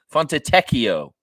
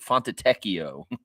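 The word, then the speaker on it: Fontecchio: thei Simone fono font fono font teio that's how you say it I've heard Matt say it on the air it's like font teio beef stew of course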